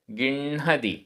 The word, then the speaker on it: गिण्हदि: उच्चारण, गिण्हदि, गिण्हदि, आधा ण ह, गिण्हदि।